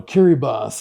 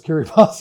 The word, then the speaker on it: Kiribati: such as, you know, Kiribas is spelled Kiribati and only if you've lived in the South Pacific do you know is Kirbas and you think, you know, so these are interesting equities.